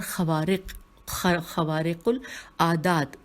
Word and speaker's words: خوارق العادات: اخلاق، معاملات، سیرت اور خوارق العادات، ہجے کرتے ہیں خے واو الف رے قاف الف لام عین الف دال الف گول تا، حالات، خوارج العادات، حالات